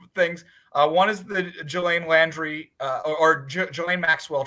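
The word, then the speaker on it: Ghislaine: name what is that i think it's pronounced like elaine i think it's like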